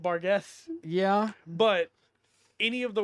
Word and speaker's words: Barghest: uh that's that's cool the official D and D pronunciation of it is bargz I have a hard time just calling it bargz yeah but any of